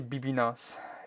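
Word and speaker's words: bbno$: It's actually pronounced baby no money, but I just say BB nos.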